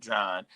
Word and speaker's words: Juan: Uh John Murray is his name is spelled Juan but he pronounces it John.